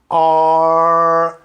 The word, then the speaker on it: are: Reparem que eu não pronunciei nem o E da palavra where e nem o E da palavra are.